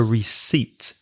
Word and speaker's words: receipt: in English it's a receipt be careful of the pronunciation that P is silent r ec e i